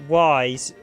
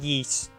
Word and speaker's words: Ys: the coast jump i always pronounce it wise i think it's actually supposed to be pronounced yeast but i think in gain they pronounce it yeast but i they technically misspelled the title it was pronounced yeast it's y s would be wise wise but it's actually i think it's pronounced yeast which is the name